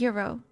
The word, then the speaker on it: gyro: In Greek, it's pronounced as Euro, so it's gonna be Euro from now on.